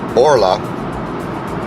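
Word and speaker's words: Orlaith: I have a sister, Orla, good Irish name.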